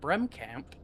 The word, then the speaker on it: Bremkamp: So, starting in that pole position, the number 78 of Mark Bremkamp, I believe is how you say that, Bremkamp.